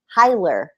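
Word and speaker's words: Keira Heiler: said it right Kira it's not heler I'm so sorry it's not Kira heler it's Kira hiler I believe unless it's healer and if if that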